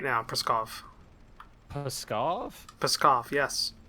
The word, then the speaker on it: Pskov: Well, no matter what, Preskov's no longer a useful military installation. Preskov? Where's that? What you're attacking right now, Preskov. Pskov? Pskov, yes. There's no R in that word.